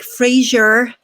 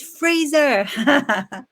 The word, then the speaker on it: Fraser: on an american show they were like frasier and we're like it's not frasier it's freezer yeah it's maybe just